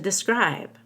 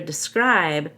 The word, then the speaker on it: describe: Chimed in to describe. Make sure describe stresses the second syllable because it's a verb, and that the duh is reduced with a schwa, not describe, but describe.